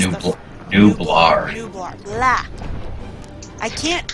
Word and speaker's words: Nublar: This one's Isla Nueblar, which is Nublar.